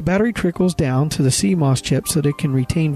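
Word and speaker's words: CMOS: and access your data Coss memory complimentary metal oxide semiconductor memory pronounced Coss is a type of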